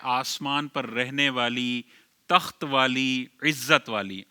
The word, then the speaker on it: Rohaan: लेकिन इसमें बाज औकात लोग रूहान पढ़ते हैं। रूहान आर ओ एच ए एन रूहान।